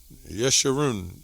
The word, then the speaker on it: Jeshurun: So we're going to go to this word Jeshurun, I guess that's how you pronounce it. Strong's H3484, Yesharun. Yeshurun. So many ways to pronounce that.